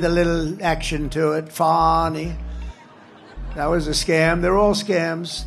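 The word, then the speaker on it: Fani: f a n i which is usually pronounced Fanny she added a little action to it fawn that was a scam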